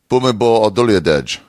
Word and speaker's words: Bhumibol Adulyadej: And his name is actually Bhumibol Adulyadej. So... I mean, Philip, on one hand, listen to it carefully. Philip, Bhumibol Adulyadej. Okay, new moment. I pronounced that fucking sweet that second time.